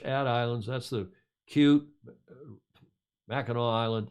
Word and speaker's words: Mackinac: islands that's the cute mackinaw island it looks like mackinac but the indians pronounce it the native americans mackinaw and that beautiful town